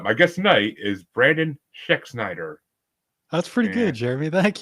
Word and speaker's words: Schexnayder: But my guest tonight is Brandon Schexnayder. That's pretty good, Jeremy. Thank you. It's Schexnayder. You're right. Hey, I did it. You got to remember the A is silent. But, kind of.